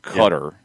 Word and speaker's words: Qatar: going to try um it sounds like it is somewhere between cutter and cutter a little more like guttural like cutter it's like a gc somewhere